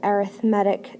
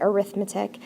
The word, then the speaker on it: arithmetic: focus on something called arithmetic sequences a lot of you guys are going to want to say arithmetic it's pronounced arithmetic sequence essentially what it is